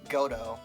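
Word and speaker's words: Godot: gdo I say godo I know the t is not pronounced I know I I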